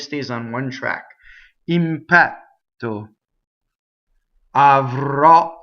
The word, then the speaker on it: avrò: Avrò. Here we have another accented last syllable with an open O.